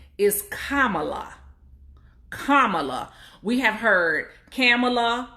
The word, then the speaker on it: Kamala: kamala her name is kamala like the punctuation mark comma law that's how you say her name so if anybody has